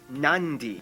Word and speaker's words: Nadi: make the M sound therefore the town of Nadi is actually pronounced nandi and this word is